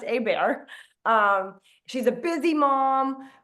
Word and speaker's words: Hebert: U, Abear, spelled Herbert or Hbert, but it's pronounced Abear.